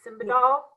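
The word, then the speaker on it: Simbadol: about um okay we're going to test my pronunciation again simba doll is it simba doll yes correct i can do buprenorphine but i'm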